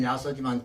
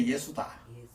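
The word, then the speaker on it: 耶蘇: 그건 뭐 또 거기 대해서는 또 뒤에 시간 있으면 얘기하도록 하고 그래 야속하는 거는 우리 발음은 야소지만 중국 발음은 그대로 예수다.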